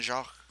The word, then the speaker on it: Jacques: the Brian Jacques for how do you pronounce that job Brian Jacques say J a c qu es Brian Shaw you know he wrote